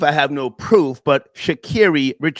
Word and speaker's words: Sha'Carri: Okay, Sha'Carri Richardson rewarded for bad behavior by Nike. Folks, the correct pronunciation of her name is Sha'Carri, not Sha'Carri.